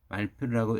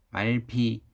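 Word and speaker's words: Mallefille: 장 피에르 펠레시앙 말필이라고 읽습니다. 말피, 말필, 마에피우 등 여러 가지로 읽습니다.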